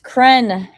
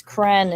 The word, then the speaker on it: Krenn: Sunday no time kren kren is live Cruise he said it it rhymes with men so it has to